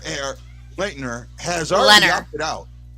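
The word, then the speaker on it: Lehner: right right now robin lennar air lightner has already dropped it out in our i i can't say his name think of leonard but leonard leonard there we go and maybe i'll name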